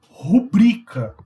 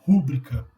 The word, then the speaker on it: rubrica: rubrica, não rúbrica.